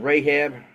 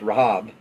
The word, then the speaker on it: Rahab: specifically hers so a prostitute with the name Rahab or actually it's pronounced Rahab R and Lodge there and it was told